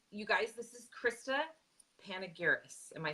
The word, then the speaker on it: Panigiris: So you guys, this is Krista Panigiris. Am I saying that correct? You know what? I've heard it wrong so many times that I don't even know how to say it anymore. Panigiri.